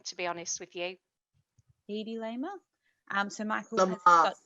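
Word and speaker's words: Hedy Lamarr: Hedy Lamer. So Michael has got 2. I think it's Hedy Lamar.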